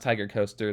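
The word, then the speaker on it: Tig'rr Coaster: day i got on tiger coaster this is pronounced tiger coaster that's how it was pronounced from the ride ops and the employees who were there so i now officially called tiger coaster despite the corrupted spelling and i was already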